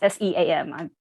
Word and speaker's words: Seam: and family, they're from a place called the Sham. I think it's pronounced SEAM.